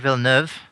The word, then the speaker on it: Villeneuve: Kevin, did I do a decent pronunciation of that? I think it's Denis Villeneuve.